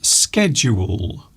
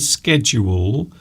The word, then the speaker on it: schedule: Schedule. I think you'll find schedule is more commonly used, even here. But in British English, we often say schedule. So it's pronounced like shoe, schedule.